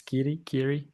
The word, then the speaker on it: Kiri: It's more of a, so like Kiri said, it's more of a, did I say it correctly? It's Kiri. It is. Yeah. So yeah, it's He got the thumbs up.